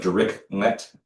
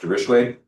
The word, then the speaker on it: Dirichlet: So it looks like Dirichlet boundary condition, but it's pronounced Dirichlet.